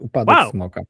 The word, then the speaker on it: Upadek Smoka: Uh, again, my pronunciation I it if if you were reading the title in Polish but with an English accent it would be Upadek Smoka but I have no Do you have any idea if that pronunciation is correct?